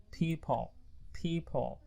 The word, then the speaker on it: people: Miracle, people, okay? P, not B. People, okay?